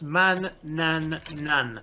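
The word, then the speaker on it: Manannan: It's man, nan, nan. 3 syllables.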